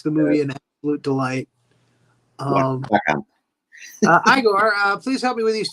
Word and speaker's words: Igor: It's pronounced Igor. It's in the village they told me it was Igor. Well, they were wrong, weren't they?